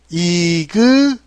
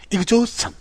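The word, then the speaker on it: exhaustion: 미국 분들은 이 부분을 이그저스천 이런 식으로 하죠. 이그저스천에 가깝게 발음할 거고요. 영국 분들은 이 부분을요. 이그조스천 이렇게 조스에 가깝게 발음할 겁니다.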